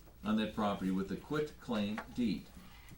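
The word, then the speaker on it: quitclaim: sale deed and a quit claim deed now that quick claim deed has I keep pronouncing that t because it's filled with a t not a c k a lot of people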